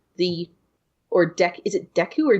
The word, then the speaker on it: Deku: or deck is a Deku or date I always pronounce it with an A but it's probably Deku I've always said thank